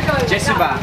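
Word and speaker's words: ကျေးဇူးပါ: Jesuba.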